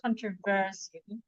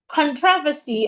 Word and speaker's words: controversy: The word controversy. That word also, the stress syllables shift. Some people stress it on the second syllable. Some dictionaries controversy. Some dictionaries stress it on the first syllable. Let's see why the Oxford Dictionary is stressing it. Then we'll try another dictionary. Some dictionaries stress controversy on their first syllables. They stress the con. Some dictionaries stress the tro.